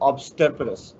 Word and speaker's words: obstreperous: Obstreperous. This is wrong. So perus I told, not porous.